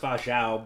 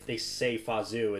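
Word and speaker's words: Fa Zhou: his name, where Fazu, I think it's pronounced Fajao, but they say Fazu in the movie.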